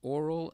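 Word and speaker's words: aural: That means there's oral and oral. There are two orals. One is spelled O-R-A-L and the other is spelled A-U-R-A-L. They're both pronounced exactly the same.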